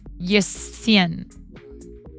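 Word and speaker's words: jesen: Or yesen. The the emphasis is on the first syllable.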